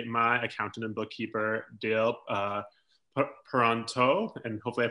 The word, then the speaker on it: Peronteau: this is actually my accountant and bookkeeper deal pronto and hopefully I pronounced that your last name correctly that's correct